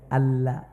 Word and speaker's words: আল্লাহ: যদি কেউ আমার মুখের দিকে তাকান যদি কেউ বলে এভাবে দেখেন আল্লাহ আল্লাহ আল্লাহ এক কোটি বার বললে সওয়াব হবে না মুখটা আপনাকে গোল করে লাস্টে এইচ বা হ বা আরাবিতে হা উচ্চারণ করতে হবে আমার নাম আপনি